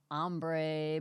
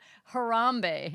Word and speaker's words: Harambe: And I thought it was an ombre, but it was Hombre. no Hombre. no. Humbre. Harambe.